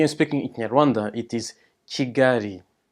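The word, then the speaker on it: Kigali: quick side note remember that the L is pronounced as a small error so we are speaking Aranda it is g-gary not jiggly each province is divided into districts Tyrell and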